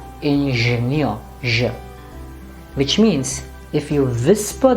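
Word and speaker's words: Ingenieur: or in hindi so you should not say ingenio no it's engineer now how do you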